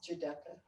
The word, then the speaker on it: Giudecca: Giudecca.